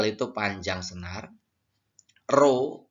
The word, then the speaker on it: rho: F itu frekuensi, L itu panjang senar, rho P ya seperti itu ya. Rho itu dibaca yang seperti kata-kata P itu ya. Itu bacanya rho.